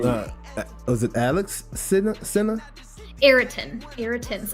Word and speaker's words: Ayrton: Ayrton. It's spelled Ayrton's.